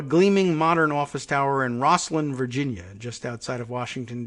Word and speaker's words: Rosslyn: modern office tower in Rosslyn Virginia just outside of Washington DC if you want to look it up it's ro SS ly n pronounced Rosslyn Rosslyn even sometimes glass-walled conference